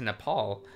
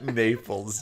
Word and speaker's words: Naples: It's pronounced Naples, Josh. Naples?